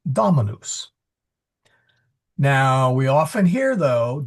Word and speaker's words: dominus: The do or sorry the do is short as in dot. So it's not dominous. It's dominus.